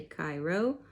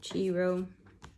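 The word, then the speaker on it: Chi Rho: it different different ways there is a proper latin pronunciation but people say cairo or chiro paige this is from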